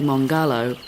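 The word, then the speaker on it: Mongarlowe: However, Budawang elder uncle Null Butler tells us that the way we say Mongalo is all wrong. In the local Duruga language, the stress between the syllables is even. So it should be mongalo.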